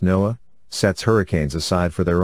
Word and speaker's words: NOAA: That's a count of only the inland windstorms, as NOAA, pronounced NOAA, sets hurricanes aside for their own category, and last year that added another 7.